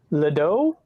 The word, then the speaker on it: Ledoux: Ledoux. Yeah. Ledoux is good. That's actually how Ledoux. they pronounce it in Louisiana.